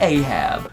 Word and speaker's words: Ahab: Today we gonna be talking about a gentleman by the name of King Ahab. Rhymes with rehab.